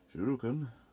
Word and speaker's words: shuriken: This time comes with two little shooting stars, or shuriken, I think they're pronounced, instead of a morning star.